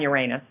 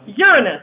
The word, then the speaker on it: Uranus: okay very heavy on Uranus that is the right way to pronounce it and like the the faint of heart say Uranus which how is that better sound different than saying you're anus yes it is but